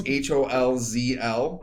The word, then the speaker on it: Holzl: Holzl Homes at Gmail?